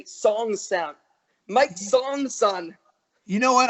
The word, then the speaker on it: Sonksen: Part of it, my buddy Tony nicknamed me that, but also a lot of people could never say Sonksen. It's not that it's that difficult to pronounce, but some people sometimes you think it's Sonksen, or is it Sonksen?